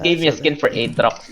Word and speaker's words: Aatrox: A I mean, is it in is other it example in other Aatrix? games, Aatrox? Atrix? No, it's Aatrox. It's double H. You have to Aatrox.